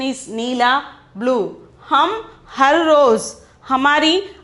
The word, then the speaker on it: नीला: Pronunciation is neela, blue.